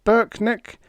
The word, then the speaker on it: Brknk: leader turned to me my name is Burk neck pronounced Burk neck and spelled b RK n k and I'm Larry Weaver